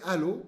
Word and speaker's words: allô: Esse alô, como vocês? Alô, só que lembra que a sílaba tônica fica no final.